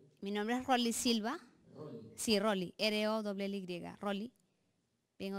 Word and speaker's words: Rolly: Por favor, pronuncie bien el nombre. Mi nombre es Rolly Silva. Rolly.